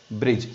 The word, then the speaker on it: bridge: Okay, D इज a silent word. क्यों? G आया है. किसके बाद? D के बाद G आया है, तो we can't use the word D.